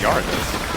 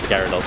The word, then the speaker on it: Gyarados: Is it Gyarados or Gardos? It's Gyarados.